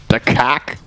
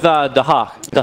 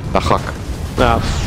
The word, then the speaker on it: Dahak: Well, you had it with Dahak. But for some reason, I just turned that into a hack. Dahak.